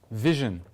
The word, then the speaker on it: VSHN: for vision vision and I really struggle how do you say it Marcos vision okay so thanks for having